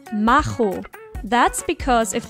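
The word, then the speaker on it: Machomei: pronounce this name as macho mai to make it sound more like macholo but in this case the first part is actually supposed to be pronounced as mahu that's because if pronounced correctly mahomai also sounds the same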